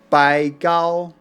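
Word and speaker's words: 白毫: Bai Hao in southern Fujian dialect is pronounced Bai Gao.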